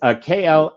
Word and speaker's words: Klaviyo: A couple of my clients have that tool, and of course I can't pronounce it right. But it's Klaviyo, and it automated the email campaigns.